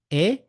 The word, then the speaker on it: et: you SAA and you say SAA and you end the conversation it's not very good so you